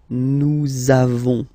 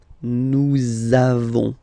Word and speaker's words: nous avons: the lesson, for être, you make this link between the two, so nous avons, nous avons, okay, nous avons, nous avons, that's it.